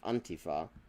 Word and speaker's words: Antifa: The first time I heard the word at all was in German, where it's just Antifa. And then that's how I always heard it pronounced in Britain as well.